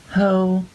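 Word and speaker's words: Haux: the bottom here this is called hoe it's spelled h a x and this one is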